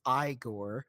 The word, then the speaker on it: Igor: them in various ways but Marty Feldman as igore because of course he kind of gives a wink at the camera when he hears Frankenstein pronounce his name as Frankenstein so he says his name is pronounced igore I think Marty Feldman as igore is just